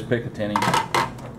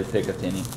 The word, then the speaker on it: Picatinny: That is Picatinny, or however you want to pronounce it. I know there's some debate about how that goes, but there's entirely too many vowels in there for me to not say Picatinny. You got E's and A's and all sorts of weird letters there.